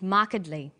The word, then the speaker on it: markedly: come across longer words you have to learn which syllable to stress for example we say intelligent increasing and markedly notice that when you stress one syllable the vowels in the other syllables are shortened sometimes these short syllables